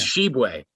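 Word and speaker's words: Tshiebwe: probably mispronouncing from westg it's sheway sheway okay sheway she's uh he's he's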